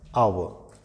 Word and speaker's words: hour: Next है ही इज एन आवर late, आवर का pronunciation HOUR हावर दिखता है, लेकिन इसका सही प्रोनाउंसिएशन है आवर।